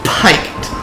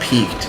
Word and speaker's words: piqued: I can't understand in any way that a word spelled that way would be pronounced peaked.